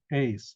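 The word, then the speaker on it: adze: 68 what is an ace the what is pronounced as Ace a d z e okay here you are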